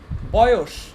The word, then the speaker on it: বয়স: তারপরে তীব্র, তীব্র, শূন্য, শূন্য, শূন্য, বয়স, এটাও কিন্তু আমরা দেখো এখানেও কিন্তু বানানটা দন্তস্ব দিয়ে কিন্তু উচ্চারণটা তালব্যস্বর, এটা কিন্তু আমরা বলি না যে বয়স, বয়স কি বলি?